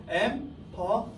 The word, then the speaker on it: empathize: 이 th가 그 저기 번데기 발음, 노홍철 발음. 뜨 이거거든요. 그래서 empathize, empathize.